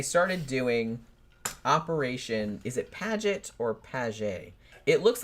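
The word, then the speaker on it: Paget: a g t and I heard everybody in the documentaries pronounce it padet so I guess that's how I'm going to pronounce it even though it looks like pagey but so this uh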